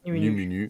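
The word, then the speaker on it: Nʉmʉnʉʉ: pas trop de difficulté même si c'est des U barrés il se prononce u donc ça fait numunu et c'est comme ça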